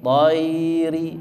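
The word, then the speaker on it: الطَّيْرِ: Ila dhayri, dhayri, ya-nya dibaca jelas, dhayri, ri-nya pendek. Fauqahum.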